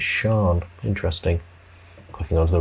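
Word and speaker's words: Sian: looking for pronunciation um oh pronounced sometimes sean hmm all right could be maybe i'm getting that wrong there maybe it's sean interesting clicking onto the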